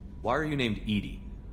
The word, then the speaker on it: EDI: why are you named Edie Edie is the phonetic pronunciation of EDI that is an acronym for enhanced defense intelligence hey Bill here